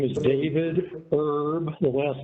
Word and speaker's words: Erb: My name is David Erb. The last name is spelled E-R-B.